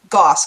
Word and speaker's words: Goss: So the plan was that the next episode we were going to continue this discussion by bringing in Jennifer Goss, correct is how it's pronounced, who is a U.S.